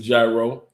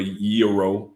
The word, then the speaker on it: gyro: is lamb meat uh go get some gyro or euro it depends on how you want to pronounce it and then take it